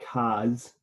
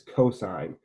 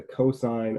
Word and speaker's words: cosine: is the cosine right it is not cos or cos it is cosine so even when it's written here we say the cosine of theta not the cos of theta right and then tangent